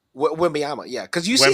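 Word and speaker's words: Wembanyama: I can't pronounce his name. Wembayama? Wembayama, yeah.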